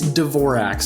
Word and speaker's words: Dvorak: that I'm not perfect is the D silent uh it's dorax so it almost there's an e between those two first consonants but uh Dvorak is